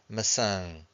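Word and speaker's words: maçã: We have that till on top of the a. So we have the nasal sound. Masang or massage.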